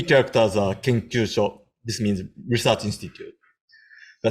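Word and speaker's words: 研究所: Then last 3 characters are Kenkyūsho.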